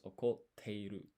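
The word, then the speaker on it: 怒っている: So here, this tsu here is half size. That means you don't actually pronounce it. Instead, it acts as a pause, and then you put an extra emphasis in the.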